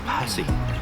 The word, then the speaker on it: pasty: Okay, so we are at Barbs Pizza and Pastys. I don't know what to call them. Is it pasty or patsy? It's Patsy. It's actually, according to how she pronounced it, it was Passy.